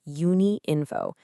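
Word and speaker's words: Unïnfo: And just so we're all on the same page, it's pronounced Uni Info.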